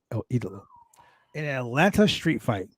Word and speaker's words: El Idolo: I said it right, El Idolo.